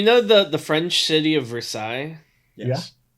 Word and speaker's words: Versailles: So you know the French city of Versailles. Yes. Yeah. We have one in Missouri as well, but they insist on pronouncing it Versailles.